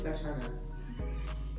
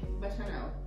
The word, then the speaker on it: bacchanal: So try it again. Bachanal. Bachanal. So, the C song is K. It's a K.